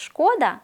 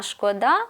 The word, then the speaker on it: шкода: і А точніше наголоси визначимо як правильно шкода чи шкода чи шкода з наголошеним першим складом це про матеріальні втрати збитки та неприємності не стало Максима затихла Буча та лайка в івановій хаті не чути ніякої шкоди в Пісках А шкода наголошуючи останній склад це про співчуття